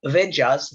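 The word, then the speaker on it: Vaidya: the years but uh vijas v-a-i-d-y-a we actually have fun fact about language there what what we pronounce is usually between W and V there's a different completely different but it's closer to W I know that's why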